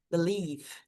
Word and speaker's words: believe: No caso aqui a gente tem a palavra believe, believe acreditar, tá? Então a gente só fala até o som aqui do v. Believe termina com som de v.